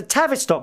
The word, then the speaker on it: Tavistock: in Terrace Rock Square Tavis stock okay I spell it t-a-v-i-s-t-o-c-k Tavistock Square it's got 343 rooms rooms ranging